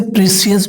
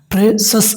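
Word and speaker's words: precious: द प्रेशस, इसे प्रेशियस भी बोलता है दोस्तों, जो कि एक सही उच्चारण नहीं माना जाता है। प्रेशस इसका सही उच्चारण है। क्यों सही उच्चारण है, क्योंकि CIOUS इसका उच्चारण होता है सस, यानी प्रेशस। Pulse were very expensive to.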